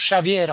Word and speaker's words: Xavier: Donc ça s'écrit Xavier, mais ça se prononce Xavier en portugais.